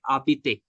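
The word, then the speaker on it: habite: For the H example, I can give like abite. Abite means to live. So usually we use to say that Jabit a Bangalore, like I live in Bangalore. But H is silent over there.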